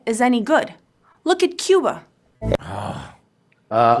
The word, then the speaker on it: Cuba: any good look at Cuba uh I believe it's pronounced Kuba it's Kuba oh look at the